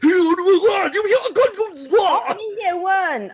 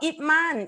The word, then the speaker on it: Ip Man: Mo come and say, Ye Wen. Oh, Ip Man. Alamak, Ip Man is Ye Wen. Ye Wen is Ip Man lah.